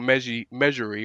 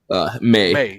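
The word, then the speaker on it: Meij: it's been in a long time because Harold Measury, or how do you say his last name? May.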